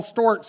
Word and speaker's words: Storts: it up for storts everybody STS should I say it right rhymes with quartz and sports that's right yes thank